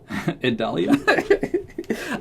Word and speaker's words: Idalia: and Hurricane Idalia. Idalia. Idalia. I'm telling you, it's like Vidalia.